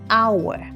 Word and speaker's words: hour: like an apple, an hour, an interesting story. Funny fact, hour starts with an H, but H is silent, so it actually starts with a vowel sound, making it an hour.